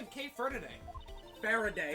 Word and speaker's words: Faraday: is kate fur today faraday faraday pronounce it bear a day fair a day okay and i'm training